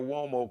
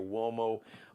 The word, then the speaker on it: Uomo: Check out Bruce Gage's Mario Uomo collection and the Flyball collection. Mario Uomo.